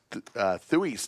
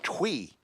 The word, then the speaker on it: Thui: And I've been told by my good friend Bones that I pronounced Thui's name wrong. It was Twee, not Thui.